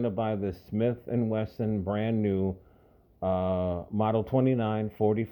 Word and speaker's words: Wesson: have always wanted a Smith and Weston I said it right the first time Smith and and Wesson model 2944 Magnum Dirty